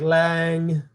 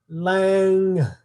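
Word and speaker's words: Lam: The seed sound of the element earth is lang, pronounced lang.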